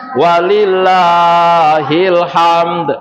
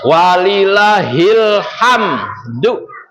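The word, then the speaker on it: ولله الحمد: Yang benar bacanya walillahilhamdu. Asal katanya walhamdulillahi tapi diputar walillahilhamdu ya. Jadi kalau baca takbiran jangan salah jang walillah ilham ya. Itu bukannya ilham ya.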